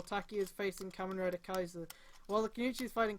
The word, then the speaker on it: Kaiser: Wait, are you saying Kaisa? Kaiser, yeah. Kaiser, which is how that is pronounced.